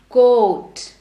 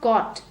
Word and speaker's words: coat: formal dress coat now how do people mispronounce coat they usually say I'll wear a car tomorrow it's not caught because God becomes CA